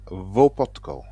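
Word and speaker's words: Łopotko: The L letter of Le Potco is actually an L with a well line through it. Some some kind of letter we don't know. But I understood that you pronounce it as a W. So you pronounce it as Hubar Votkco.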